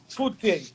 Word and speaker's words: Fute: Fute. That's how I pronounce it. So anyway, correct me if I'm wrong.